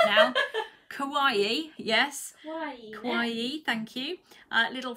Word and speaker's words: kawaii: I do like this kind of, and Kelly's going to tell me off because I get the name wrong, kawaii. Have I said it right now? Kawaii, yes.